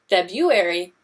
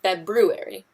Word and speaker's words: February: to roll with it February is an interesting word because it can be properly pronounced in two different ways February and February both are correct there's actually a number